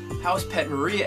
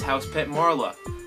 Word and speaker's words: House Pet Mara: My name is House Pet Mara. I'm so sorry, House Pet Mara. Uh if if you look at your name really fast, it looks like House Pet Maria, like a like a uppercase I or something.